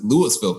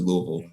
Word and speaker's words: Louisville: a hundred units and i like to pronounce it lewisville kentucky but it's actually louisville or louisville however you want to pronounce it and the the